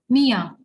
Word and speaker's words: mir: Okay, here we'll neglect R and instead of R we'll be saying A. So it's Mia. Mia.